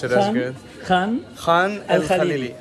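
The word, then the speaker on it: Khan el-Khalili: There you go, I wouldn't be able to pronounce it as good. Khan el Khalili. Khan el Khalili.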